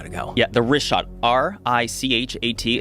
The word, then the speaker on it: Richat: Yeah, the Richat, R-I-C-H-A-T. It's worth mentioning he's got it already here. Yeah, in the first couple, I just want to say it's Richat. I used to call it Ricot.